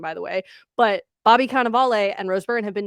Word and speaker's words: Cannavale: It's Cannavale.